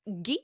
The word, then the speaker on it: Guy: his name is G it's spelled like guy but it's pronounced GE anyone who knows French